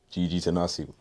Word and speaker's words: Gigi Tenase: Today, we're tapping in with one of the rising stars in the game, rapper, singer, songwriter, Gigi Tenase. How you doing? I'm great, and thanks for pronouncing my name correctly.